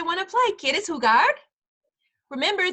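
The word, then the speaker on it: jugar: to play kid is who guard remember the J in Spanish makes the H sound since the letter H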